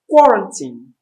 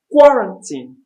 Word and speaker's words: quarantine: such name the next one after coronavirus is q-u-a-r-a-n-t-i-n-e it's pronounced correctly as quarantine quote printing the stress is in the first level quarantine quarantine now you observe where this the words